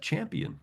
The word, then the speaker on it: champion: But if you are a champ and you add an io n you got champion. Mhm. Now it's pronounced.